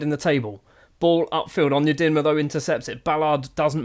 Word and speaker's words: Onyedinma: Onyedinma error, that's how you say it.